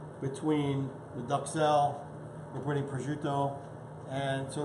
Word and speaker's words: prosciutto: I want to make sure I pronounce it correctly. It is prosciutto.